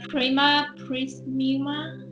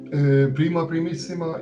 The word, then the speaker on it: Prima Primissima: The Prema Prisma. Is it the right pronunciation? Okay. Yeah, thank you very much. Prima Primissima is a Hungarian non-profit award.